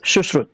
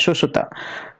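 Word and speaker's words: Sushruta: Susuta right actually in Hindi or Sanskrit his name is Sushut and we call and we pronunciate his name as Susuta.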